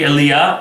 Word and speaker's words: Eli: like the first uh i think elia is how you pronounce it in the hebrew and so eli sounds